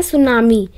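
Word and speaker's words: tsunami: की नेक्स्ट देखते हैं सुनामी इसका जो टी है वो साइलेंट रहता है तो नाम ही नहीं बोलते हैं सुनामी देखो जो सुनामी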